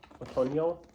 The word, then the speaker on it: Otoño: Otoño is how you say it in Spanish.